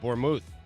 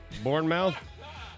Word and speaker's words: Bournemouth: right but this is Bournemouth right Bournemouth and it was something like that but it's not pronounced mouth right for men right